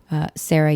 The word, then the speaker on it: Sarah: I am Sarah Universe on Instagram, and I am Sarah, spelled with an H. The H is silent, and, as in forever young.